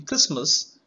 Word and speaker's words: Christmas: a red color and in Christmas tea is not pronounced it is silent and whenever we are